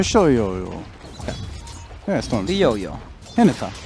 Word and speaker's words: Hinata: Hinata. Hinata's how you say it.